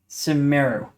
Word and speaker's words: Sumeru: Here's the pronunciation. Sumeru.